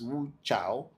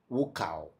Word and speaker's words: Wu Chao: fat stack and also my name is wu chao but is pronounced wukao.